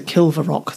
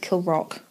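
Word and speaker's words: Kilravock: not far from here i thought it's a kill for rock though but yes but that's why i checked the it's pronounced kill rock and williams feud was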